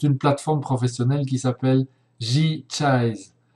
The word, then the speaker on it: J-Chise: Alors, cette plateforme, on y vient maintenant, elle s'appelle, c'est une plateforme professionnelle qui s'appelle G-Chise. Alors, Chise, ça s'écrit C-H-I-S-E, c'est la fin du mot franchise.